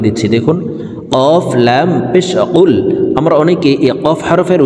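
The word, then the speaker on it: قُلْ: আমরা অনেকে এই কফ হরফের উচ্চারণ কাফের উচ্চারণ করে থাকি, কুল কুল এভাবে পড়ে থাকি। প্রিয় দর্শক, কফ হরফের উচ্চারণ জিব্বার গোড়া তার বরাবর উপরের তালুর সঙ্গে লাগাইয়া উচ্চারণ করতে হবে।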